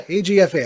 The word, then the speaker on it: AGFA: Yeah, AGFA.